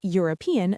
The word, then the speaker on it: European: Similarly we say a European country because European starts with a u sound.